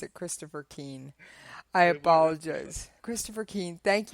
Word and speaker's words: Keane: coffee say I wish my name was Christopher crane I said I'm sorry I must have mispronounced it Christopher Keane I apologize Christopher Keane thank you for hanging